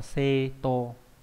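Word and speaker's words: 正当: này ra đúng nhỉ, cái này chúng ta đọc là seto có nghĩa là chính đáng các bạn nhé.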